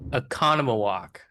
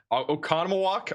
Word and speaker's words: Oconomowoc: Bro, I the pronunciation from Riley who lives in Wisconsin. Oconomowoc Go ahead Riley. Oconomowoc Oconomowoc?